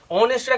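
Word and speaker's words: honest: অনেস্টের আগে বলেছিলাম এইচটা এইচ এর মতো উচ্চারণ হচ্ছে, ঠিক আছে, কিন্তু অনেস্ট এখানে আছে,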